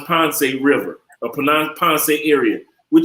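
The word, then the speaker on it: Pance: look up somewhere that's beautiful p-a-n-c-e cali colombia ponce it's pronounced ponce river a penance area we'll talk about some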